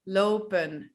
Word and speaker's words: lopen: Well, yeah, we just decided to speak fast, don't pronounce the N and pronounce the last E as an E. Lopen, werken, rennen, eten.